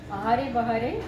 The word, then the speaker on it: Ahare Bahare: is a 10 days Bengali food festival named Ahare Bahare. This is how you pronounce this.